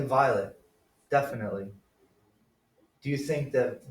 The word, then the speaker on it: violet: I think it was violet. Yeah, they might not pronounce the T.